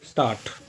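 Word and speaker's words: Stadt: ये हमेशा ट की तरह साउंड करता है। जैसे हम लोग पढ़ते हैं स्टार्ट डी नहीं बोला जाएगा इसमें। इसको साइलेंट किया जाता है डी को। इसको पढ़ा जाता है स्टार्ट की तरह।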